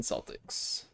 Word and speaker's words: Celtics: Correct way to say it is Celtic, not or Celtic, not Celtic. It depends. Like the team name is actually the Celtics. However, if you're going by old Irish pronunciation, Gaelic pronunciations, it is Celtic, yeah. But like the name Celtic has been normalized for the team.